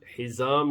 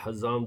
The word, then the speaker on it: حزام: ام المومنین حضرت خدیجہ رضی اللہ تعالی عنہا، آپ نے اپنے بھتیجے سے، حکیم بن حزام یا حزام دونوں طرح سے تلفظ ہے، ان سے کہا کہ